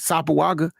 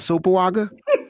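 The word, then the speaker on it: Sopoaga: Sapoaga. How I say it again? Yeah, you got it right that time. Okay. See, it only take me 3 tries. Sapoaga. It's not Sopawaga.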